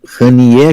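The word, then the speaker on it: Haniyeh: morreu então Ismail eh rier né rier que a gente acha que a que a pronúncia é próxima disso que é então um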